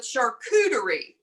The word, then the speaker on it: charcuterie: love fun it's called a charcuterie i love charcuterie yeah and that's the way it's pronounced because i struggled with it for a long time but charcuterie and a charcuterie let me tell you a